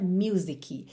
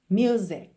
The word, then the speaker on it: music: a sua atenção para nunca dizer music, ok? É muito comum, como a palavra música em inglês é uma palavra que muitas pessoas usam no dia a dia, é frequente esse erro de pronúncia music. Lembra que essa letra C é uma consoante oclusiva, ela vem encerrando o som da palavra music, music, ok?